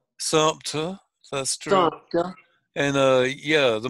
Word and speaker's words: Sumter: Don't pronounce those R's. Yeah, there's no R's at all. No R's. It's like Sumter, South Carolina. They always say Sumter. Sumter.